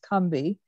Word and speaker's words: Combahee: And we decided to name ourselves after the Combahee River in South Carolina, which is actually pronounced Cumby.